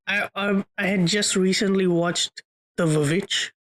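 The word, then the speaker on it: The VVitch: Okay, I honestly can't remember, but I had just recently watched The Vavitch, like rewatched The Vavitch. I'll always say it that way because that's how it's spelled on the poster.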